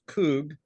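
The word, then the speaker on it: חוג: the English language but it's pronounced coog and that Hebrew word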